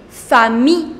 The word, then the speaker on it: familles: Les familles avec S, but you will not pronounce that S. So les familles, the families.